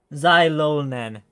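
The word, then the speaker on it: Xilonen: Zyolen, that's how you say the name.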